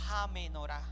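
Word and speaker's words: הַמְּנוֹרָה: la menor menor excelente la menora en hebreo se dice J menora J menora se escribe h a menora con h al final Ja menora h a o sea y se lee Ja como si fuera en inglés ja H menor que representa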